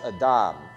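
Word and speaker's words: אדם: So the Hebrew word is just three little letters, and that little like T-shaped thing under it is a short A sound. So it's Adam.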